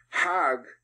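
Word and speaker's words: حج: a pilgrim to Mecca hug is the Egyptian pronunciation hug in Hebrew means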